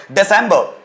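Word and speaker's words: December: दिसंबर, दिसंबर नॉट दिसंबर, दिसंबर, दिसंबर, जिस last वाला are silent, और जिसको हिंदी में हम बोलते हैं दिसंबर।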